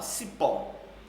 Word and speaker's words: cipó: Olha lá, cipó. Última sílaba, última vogal, terminada em O, tá certo? Portanto, é a sílaba mais forte, ok? Além de ser mais forte, ela é a última.